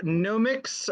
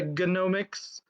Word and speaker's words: Gnomics: It's called the Gnomics, or if you want to pronounce the G at the beginning of it, it's the Gnomics. But I don't think we do that in English.